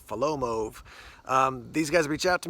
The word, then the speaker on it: Folomov: is from a company I believe it's pronounced foe Lomo or follow moe these guys reached out